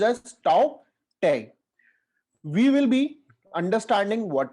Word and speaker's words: Tauktae: is his name as tao tang in this the letter k is silent so it is pronounced as tao tang we will be understanding